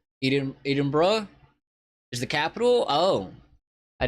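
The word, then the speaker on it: Edinburgh: know anything about Scotland uh Edinburg pronounced Eden Eden BR is the capital oh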